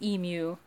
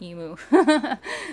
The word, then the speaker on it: emu: It is pronounced emu, but you know, I say emu.